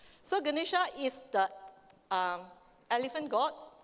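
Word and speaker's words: Ganesha: it's actually the figure of how do you pronounce that g g ganisha so ganisha is the um elephant god the Hindu god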